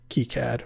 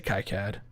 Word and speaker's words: KiCad: then we'll do, yes, this is KiCad or KiCad. I like to say KiCad. I will probably, that is my go-to phrase. As long as you spell it right, I don't care how you say it.